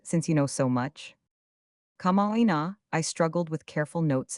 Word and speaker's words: kama'aina: How should it be pronounced, since you know so much? Kama'aina, I struggled with careful notes and tongue. But when Miss Frances says it quickly, it seems to run into Kama'aina.